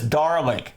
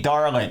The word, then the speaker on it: Dalek: And we've all, in the States, all my friends, we always pronounce this Dalek. D-A-R-L-E-K, Dalek. Despite the lack of an R.